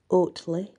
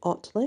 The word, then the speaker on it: Otley: people now say otley I say it was otley because it's o t l e y but I have heard if you call it oddly but in my book